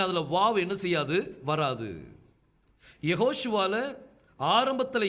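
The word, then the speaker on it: Yehoshua: ஒன்பது எக்ஸாம்பிள் நம்ம பார்த்துட்டோம் சோ கர்த்தருடைய நாமம் யாஷுவா கிடையாது அது சொல்லி உச்சரிக்கணும் அதை பொதுவா என்ன சொல்லுவாங்கன்னா அந்த நடுவுல இருக்கிற வாவ் வந்து சைலெண்ட் அப்படின்னு சொல்லி சொல்லுவாங்க ஆனா கிராமர் படி வாவ் வந்து சைலெண்ட் கிடையாது அதை நீங்க உச்சரிச்சு தான் ஆகணும் அதனாலதான் அவருடைய பெயர் யெகோஷுவான்னு சொல்லி இருக்குது சோ இது உங்களுக்கு நல்லா புரிஞ்சிருக்கும்னு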